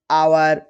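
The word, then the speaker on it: hour: और यदि एच के बाद ओ आता है तो एच साइलेंट होता है। जैसे घोस्ट, ऑनेस्ट, आवर।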